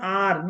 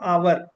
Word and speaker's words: our: This is pronounced as R not our it's R.